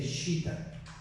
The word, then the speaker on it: citta: En sánscrito, mente se escribe como, se dice Shita.